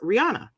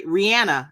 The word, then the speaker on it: Rihanna: My selection is Rihanna, or I'm sorry, Rihanna, as I hear her pronounce it.